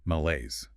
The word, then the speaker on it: malaise: Malaise. 2 syllables. Stress on the second. Sounds French. It is French in origin, malaise.